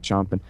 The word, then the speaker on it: champing: And I don't think the Russians or the Chinese are, champing at the bit to, I guess you spell it champing, but you pronounce it chomping.